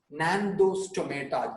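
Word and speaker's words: Gnathostomata: Nandostomata, G silent.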